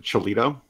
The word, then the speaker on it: Cholito: Was it Cholito? Yes. Yeah, rhymes with Toledo.